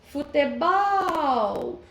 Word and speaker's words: futebol: Futebol. A sílaba mais forte foi o bol, a última sílaba.